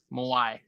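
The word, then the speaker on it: Mawae: Oh, Kevin Mawai? Yeah, Moai. That's how you pronounce it.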